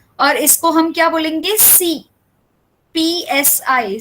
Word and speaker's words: Psi: उसे बोलेंगे PSI, सी, ये ग्रीक टर्म है PSI, ठीक है। ये इसका प्रोनाउंसिएशन है, और इसका प्रोनाउंसिएशन क्या है? ये इसका स्पेलिंग है, इसका प्रोनाउंसिएशन सी है, ठीक है।